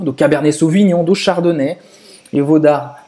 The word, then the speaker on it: Cabernet Sauvignon: Tem também Cabernet Sauvignon. Cabernet Sauvignon. Cabernet, então, E-T no final da palavra, se pronuncia E. Cabernet Sauvignon.